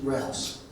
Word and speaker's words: Roos: I believe that everybody knows that we had a speaker due, Stephen Roos. Is that how you pronounce his name? Rouse. Right.